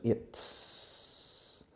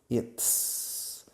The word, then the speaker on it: it's: De it is, contraemos en it's. Fijaos en la pronunciación. It's. Es un sonido complicado que no tenéis en castellano.